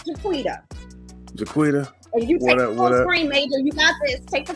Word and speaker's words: Jaquetta: Is it Jaquetta or Jaquita? I don't know how to pronounce that. It's Jaquita.